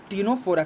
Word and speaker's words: Ctenophora: तो इसलिए बने रहिए हमारे साथ जिसका पति साइलेंट है सिर्फ कहते हैं टीनोस्पोरा कहते हैं ठीक है तो हमारा जो तीनों